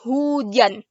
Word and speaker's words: hujan: It sounds similar to Fiona's last name, Maharaj Hossein. So if you know how to pronounce Hossein, you know how to pronounce Hujan. Just change the S to J, Hujan.